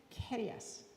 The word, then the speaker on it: Carias: So, tonight we have It is Keras.